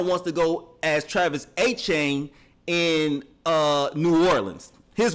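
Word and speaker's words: Etienne: kept calling him Travis ETN but it really sounds more like Devin Achain.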